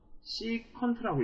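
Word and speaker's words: cosecant: CSC라고 읽고 이거를 우리가 코시컨트라고 읽어요.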